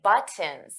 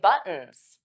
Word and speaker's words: buttons: So those T's become flat T's. We don't push out the air. Now you can absolutely say buttons. You can pronounce the T, but it's important that you know how native speakers pronounce it so you can understand us and not be confused when we say buttons.